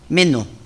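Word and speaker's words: μένω: Aquí la palabra persistir viene del griego meno, con acento en la E, meno, que significa quedarse, hacer escala.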